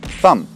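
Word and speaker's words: thumb: dam dam следующее слово и снова злополучная букву б сам если вы смотрите каких-то англоговорящих блогеров они все время говорят что надо вам за там за ставьте лайк большой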